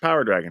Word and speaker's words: PowrDragn: stuff over at trap power Dragon it's spelled weird it's p r d r AGN but hey you can